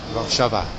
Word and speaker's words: Warszawa: Warszawa. Yeah, that's how you say it.